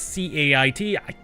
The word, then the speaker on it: Cait: Because C-A-I-T, best pronunciation is Cait. That's Cait Sith. Okay. See, with the I there always makes me kind of draw out the A, so it's Cait for me.